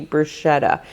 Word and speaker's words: bruschetta: For Thursday night, I'm going to do chicken bruschetta pasta. I always want to say bruschetta. It seems like it should be bruschetta, but it is actually bruschetta.